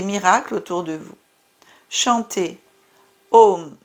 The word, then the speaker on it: Om: Chantez Om Namah Shivaya afin de raviver votre paix.